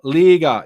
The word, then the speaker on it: Liga: Liga is the way it was pronounced to me.